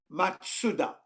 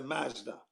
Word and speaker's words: Mazda: zoom zoom it's actually the actual pronunciation in japanese because it's a japanese brand is matsuda matsuda is what it's